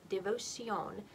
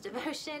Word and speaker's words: Devocion: again this is devotion it's spelled in its uh the way it would you would spell it if you were saying it in spanish so the spelling of it if you're looking for it online is d-e-v-o-c-i-o-n devotion which sounds french but it's